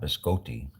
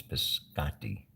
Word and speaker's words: biscotti: biscotti right I was I was told that's not biscotti it's biscotti and Maria is my